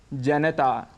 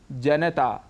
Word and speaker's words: जनता: करते हैं जनता जनता लेकिन इसका शुद्ध उच्चारण है जनता यहां पर न में जो अ स्वर है उसको हम छोड़ देते हैं जिसे हमें नहीं छोड़ना चाहिए और पूरा बोलना चाहिए जनता ऐसे ही आकाशवाणी इसका